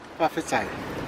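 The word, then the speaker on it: fa'afetai: Whawhetai.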